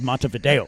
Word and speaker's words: Montevideo: It's spelled Montevideo. I'm calling it. Go fuck yourself. It's Montevideo. Respect, son.